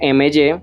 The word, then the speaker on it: MY: En redes sociales aparecemos como Laboratorio MY, ¿cierto? Se pronuncia My, pero ese es, digámoslo así, el gran reto de nosotros. My como mío en inglés, precisamente porque nos gusta